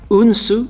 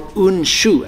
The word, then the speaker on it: Unsu: I'm probably gonna go with Unsu or Unshu, as it's originally called. Different styles have different pronunciations. It doesn't really matter.